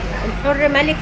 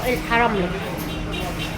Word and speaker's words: الحرملك: الحر ملك يا جماعه ده الاسم الصحيح عشان في ناس بتنطقوا الحراملك.